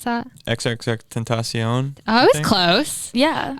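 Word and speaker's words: XXXTentacion: XXX Texion. Oh. Tentacion. Do you know who that is? No, but Yeah. maybe that's why. Yeah. How do you pronounce that? XXX Tentacion.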